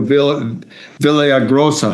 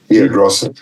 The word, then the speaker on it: Villaraigosa: As did Antonio Villaraigosa. How do you say that? Villa Villaraigosa.